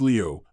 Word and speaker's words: 镠: Soon after Zhu Wen took the throne, Qianlu, pronounced Liu, the military governor, Jidushi,